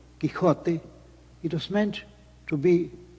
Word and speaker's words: Quixote: del ingenioso hidalgo Don Quixote, or Don Quixote, as I suppose Cervantes would pronounce it, de la Mancha.